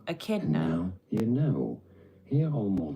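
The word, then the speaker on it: echidna: Kid British pronunciations are rather similar here. Pretty straightforward once you know. Akidna. Akidna. Akidna.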